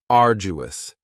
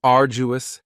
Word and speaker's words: arduous: Next is arduous, and arduous has 3 syllables, and the stress is on the first syllable, arduous. Now, you don't hear that D sound that much. It's not very strong. It almost sounds a little like a J.